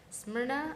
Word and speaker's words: Smyrna: They've also set numerous records, and they're gonna send students to individual regionals in Smyrna. I believe that's how you Smyrna, pronounce it. Tennessee, yes. Smyrna, Tennessee.